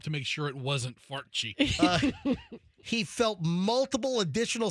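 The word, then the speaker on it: Farchi: Did you say his name was Fart Cheek?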